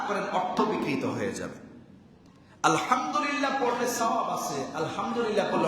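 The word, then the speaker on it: الحمد لله: কাট দাও তাকবর আল্লাহু আকবার দুই নাম্বার তাহমিদ আলহামদুলিল্লাহ তাহল লা ইলাহা ইল্লাল্লাহ তিনটা সহজ সংক্ষেপে বলা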